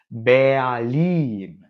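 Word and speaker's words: Berlin: அத பர்லின்னு சொல்லக்கூடாது. பேயாலின் இந்த வார்த்தையில பார்த்தீங்கன்னா எர் ஒரு வவ்வல தொடர்ந்து வருது. ஏயாலின் சோ அந்த இடத்துல நம்ம பேயாலீன் அப்படின்னு சொல்லணும்.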